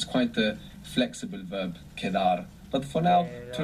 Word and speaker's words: quedar: It's quite a flexible verb, quedar. But for now, to Quedar. remain or to be left over. Q-U-E-D-A-R, quedar. And QU in Spanish is always a K sound.